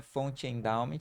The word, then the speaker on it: Fonte Endowment: lugar no Instagram é fon endowment Lembrando que o t é mudo porque a gente vai utilizar o e do endowment e o endowment se